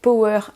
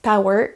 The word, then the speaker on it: power: la différence entre prononciation si vous prononcez le mot le mot par exemple power comme un bon français power en prononçant le haut comme un os on ne vous comprends pas la center problèmes de prononciation si vous dites power là on vous comprend vous avez une bonne